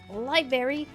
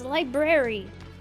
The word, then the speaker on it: library: Every time I'd be like, it's not library, it's library. You're the professional, you should know how to pronounce things.